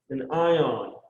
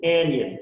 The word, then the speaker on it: anion: a special name an anion no it's an anion anion a-n-i-o-n anion or again i don't know